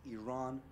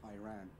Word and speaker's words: Iran: the Iranian people but you're pronouncing your country's name wrong our country is named Iran not Iran please once and for all let's get this